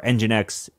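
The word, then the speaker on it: nginx: your enginex server uh or enginex is enginex a server is that a correct way to say that Wes yeah yeah enginex is a a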